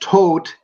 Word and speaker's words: Tod: T which is interesting for me because Todd pronounced tote is death in German and a fellow by